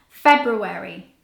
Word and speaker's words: February: least it's this word now this word does not have any silent letters and I include this word on purpose because so many people make the mistake of thinking that the are is silent but it's not there are no silent R's in this word you actually pronounce all of the letters and the way you say it is February it's so hard to